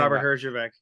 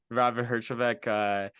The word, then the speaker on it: Herjavec: Robert Herjavec. Robert Herjavec.